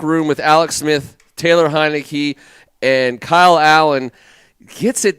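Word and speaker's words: Heinicke: And Heineke. It's the emphasis. Emphasis on the last syllable.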